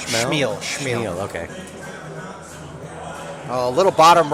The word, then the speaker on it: Chmiel: Is that how it's pronounced? Chmiel? Chmiel.